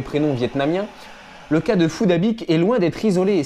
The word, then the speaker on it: Phuc Dat Bich: de ce jeune homme ne se prononce même pas de la même manière que les insultes en le disant avec l'accent vietnamiens feu de labiche se prononce plutôt fou dabic fouda big fouda big c'est incroyable un cas